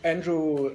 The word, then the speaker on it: Andrew: So, welcome, Andrew.